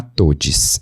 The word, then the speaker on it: TODXS: Tem uma iniciativa que chama TODS, se escreve TODXS.